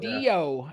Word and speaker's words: Caudillo: He goes by Nuclear Caudillo. Is that how you pronounce it? Perfect. Okay. More emphasis on the "iyo" on the last part. Cowdeo.